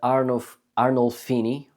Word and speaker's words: Arnolfini: biggest masterpieces from the 15th century, called the Arnolfini.